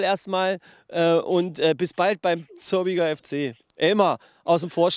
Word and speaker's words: Zörbiger: Beim Zörbiger FC. Das ist ja auch die richtige Aussprache, stimmt's?